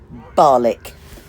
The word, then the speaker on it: Barnoldswick: get myself to the town of Barnoldswick. And you pronounce that Barlick.